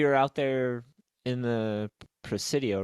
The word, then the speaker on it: Presidio: of when we were out there in the Presidio, right? That's how you Yeah.